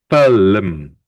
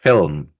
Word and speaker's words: film: We say the I first film film. Have you look here? The I is first before the L. So we pronounce it film.